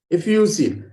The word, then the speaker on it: effusive: Effusive. F has a stress. E is not A. It's effusive. So V is with your lips close together.